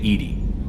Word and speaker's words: EDI: have a specific inquiry why are you named Ed Ed is the phonetic pronunciation of Eed d i that is an